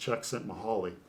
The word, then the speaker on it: Csikszentmihalyi: The author I can't spell, but it's pronounced Csikszentmihalyi.